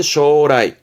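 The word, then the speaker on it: 招来: 쇼세 쇼세 초래 그죠 초래 발음은 쇼라이 쇼라이 초라함은 불러온다는 뜻이니까 뭔가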